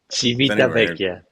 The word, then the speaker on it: Civitavecchia: Civitavecchia.